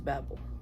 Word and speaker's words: Babel: I have here Babel that is how you say it at least in the US the author is American okay it is Babble I've heard her say